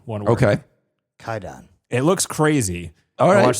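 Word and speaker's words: Kwaidan: It's called uh Quaidon or it's it's Kaidon is how you're supposed to pronounce pronounce it, but it's spelled K W A D- N. One word. Okay. Kaidon.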